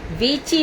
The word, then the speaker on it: वीची: यमुना मधुरा, वीची मधुरा, ना कि बीचो मधुरा।